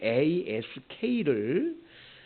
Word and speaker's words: ask: 영어로 ASK를 미국 사람들은 ask라고 발음을 하지요. ask 이렇게 발음하는데 영국 사람들은 ask라고 발음을 합니다. 그래서 ask, ask 이 발음하는 걸 보면서 아, 미국 영어를 공부했구나, 영국 영어를 공부했구나 이렇게 안다고 그러죠.